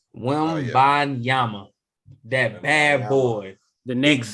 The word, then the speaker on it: Wembanyama: How you pronounce his last name? Wembanyama.